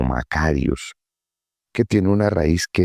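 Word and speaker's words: μακάριος: También me parece interesante que podamos mencionar que esta palabra que usted encuentra bienaventurados es una palabra que en el griego se pronuncia como macarios, que tiene una raíz que es mac, que indica algo grande, algo de larga duración.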